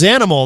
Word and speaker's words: Xanimal: The project is Zanimal. Now I know how to say it correctly. And uh let's hit this. This is another another great track. This is called love access from Zanimal.